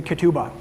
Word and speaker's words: ketubah: like the marriage document it's called a ketubah everybody say kituba and it's spelled k-e-t-u-b-a-h and the root of